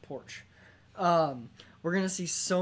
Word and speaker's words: Porsche: eventually knocks Jaguar okay it's pronounced porch we're gonna see so